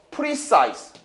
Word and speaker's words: precise: precise. precise는 정확성, 정확한이란 뜻. 정확한. 자, 정확한이란 단어고 size 나오는 게 어차피 니들이 두 가지만 하면 돼요. precise, concise. 얘는 형용사기 때문에 지라고 읽지 않습니다.